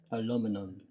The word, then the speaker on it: aluminum: the plate is Al aluminum British would like to say that I'm saying it wrong but it is Aluminum with some mega mega